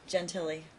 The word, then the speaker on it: Gentile: you remember don asking judge i'm not a pronunciation my last name jen tilly do you remember don asking judge gentilly to look up the date that the child